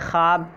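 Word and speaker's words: خواب: ठीक है, लिखने में तो आते हैं लेकिन पढ़ने में इनको हज़फ कर दिया जाता है, ख्वाब बोला जाता है, यानी इनका प्रोनाउंसिएशन जो होता है आपका ये ख्वाब होता है डायरेक्ट।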